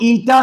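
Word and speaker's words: eta: Coefficient of viscosity, इसका formula दिया है F इज इक्वल, इसको ईटा से रिप्रेजेंट करते हैं। किससे रिप्रेजेंट करते हैं? ईटा। ये है प्रोनाउंसिएशन, ईटा।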